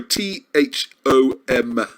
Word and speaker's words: Thom: Not Thong. Sorry, Thom.